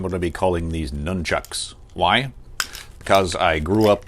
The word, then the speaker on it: Nunchaku: Nunchaku. That's the proper pronunciation for these. But for the duration of this video, I'm going to be calling these nunchucks.